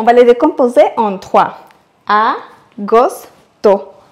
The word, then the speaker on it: agosto: Le huitième mois, c'est agosto, août. Et pour bien le prononcer, on va les décomposer en trois. Agosto, en accentuant sur le premier O.